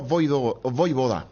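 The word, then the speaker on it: Vojvoda: Juan Pablo Voivoda. A la J como I.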